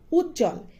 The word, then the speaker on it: উজ্জ্বল: যেমন উজ্জ্বল এখানে জয় জ তারপরে বফলা যুক্ত হয়েছে। এখানেও ব এর কোন বা বফলার কোন উচ্চারণ নেই।